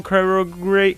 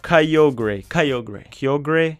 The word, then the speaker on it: Kyogre: I pronounced it wrong. RIP. So it has a primal Kyogre and a regular one. Kyogre.